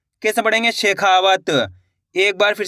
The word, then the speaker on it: शेखावत: शाह में एक की मात्रा शे, खा में की मात्रा खा, व तो मिलके बन जाएगा शेखावत। कैसे पढ़ेंगे? शेखावत।